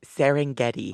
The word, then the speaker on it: Serengeti: that's amazing exactly the serengeti how do you pronounce it i've only seen it written it's serengeti oh i'm sorry anyway oh what was your